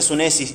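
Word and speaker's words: σύνεσις: Esa palabra entendimiento se pronuncia sunesis y la idea es un entendimiento práctico.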